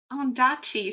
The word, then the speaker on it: Ondaatje: Let me see how to pronounce it because I don't want to mess this up. Oh, I said it right. Ondaatje.